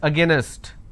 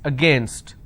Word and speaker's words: against: Don't pronounce this as against. It's against.